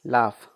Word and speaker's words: laugh: LAUGH, लाफ। लाफ, लाफ। उसके बाद ROUGH, रफ आदि। अब नेक्स्ट है pronunciation rules of H, H का उच्चारण नियम।